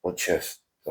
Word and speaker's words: отчество: T is almost silent. You almost don't pronounce T. So how do you say without T? Отчество, right? Almost don't. Or you could actually skip the T.